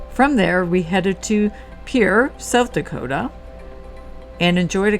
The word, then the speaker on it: Pierre: Riverview RV Park in Pierre pronounced by people here as Pier South Dakota uh and